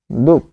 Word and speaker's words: দুঃখ: তাহলে দুঃখ, এখানে আমরা লিখব যে উচ্চারণটা হচ্ছে দ রস্য উ দুঃখ, যেহেতু এখানে বিসর্গ আছে তাই সেটি কি হচ্ছে, দ্বিত্ব হচ্ছে, দুঃখ, দুঃখ।